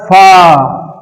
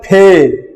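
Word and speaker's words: فاء: उसके बाद आता है फा। इसको उर्दू में कहते हैं फे, मगर उसी को अरबी में कहते हैं फा। देखिए मैं कैसा पढ़ता हूं, फा फा फा।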